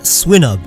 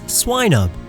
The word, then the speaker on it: Swinub: It's a swine, so it's not Swinub, it's Swinub. Piloswine, not Pillow Swine.